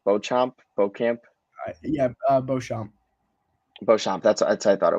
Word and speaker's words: Beauchamp: Beauchamp.